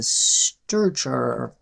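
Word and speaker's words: strchr: And I'm going to use the strchar function Strchar is how that is pronounced.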